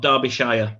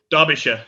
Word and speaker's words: Derbyshire: british speaking friends is it's not derbyshire i'm sorry about this it's derbyshire yes shire is for hobbits at least at least